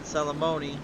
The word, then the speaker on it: Salamone: And then Salamoni rhymes with alimony.